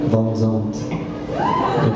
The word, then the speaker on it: Van Zandt: I'm going to have to pronounce it the French way in this song. Van Zandt.